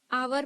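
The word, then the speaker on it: hour: एन लगाते हैं क्योंकि आवर भले ही एच से शुरू करते हैं लेकिन उसका प्रोनाउंस एशन आवर बोलते हैं ठीक है तो वहां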